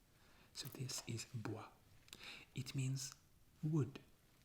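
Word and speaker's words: bois: words like oh yeah you don't pronounce the s at the end of this world yeah that's a difficult thing in french the letters that you don't pronounce so this is bua it means wood like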